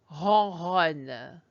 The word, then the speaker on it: ronronne: I am going to say the cat purrs in French because you see it has two R's in it. And if I can say it, you will hear how it almost sounds like purring.